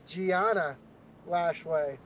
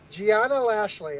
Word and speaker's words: Gianna Lashley: It's Gianna Lashway. Lashley. Gianna Lashley.